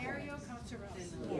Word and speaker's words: Tenorio-Coscarelli: It's a compound name. It is Tenorio dash Coscarelli. Tenorio-Coscarelli. Yeah.